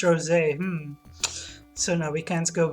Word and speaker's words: Rosé: Rosie? But it's pronounced Rosé.